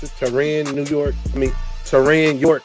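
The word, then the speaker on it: Taurean York: Tyron York. That's how you pronounce it.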